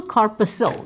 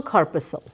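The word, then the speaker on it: corpuscle: Renal corposil. The C is silent. Okay. Renal corposil.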